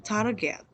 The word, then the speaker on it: target: Itu harus dibaca dengan target. Asli, target pakai g. Nah, yang terakhir adalah dengan kata performance. Semuanya bacanya performance.